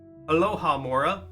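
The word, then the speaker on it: alohomora: me Lora the alohamora spell book alohamora alohamora that's that's how you say it um but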